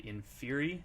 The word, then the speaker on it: Inferi: guitar player for the band in Fury is that how you say it correctly right or INF Fury no you got it first time okay cool yeah Malcolm's